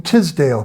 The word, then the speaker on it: Teasdale: and Karen knows how to pronounce his name say it g gum Tisdale Professor gum Tisdale Elizabeth say she's my French tale t e a s d a l e he wrote a book